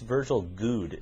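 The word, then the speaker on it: Virgil Goode: By the way, you're mispronouncing. It's Virgil Good is how he pronounces it.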